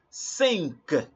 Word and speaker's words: cinq: 5 already, as in number 4 we say Q is que. So number 5 is cinq. Cinq. IN is in. So cinq. All right.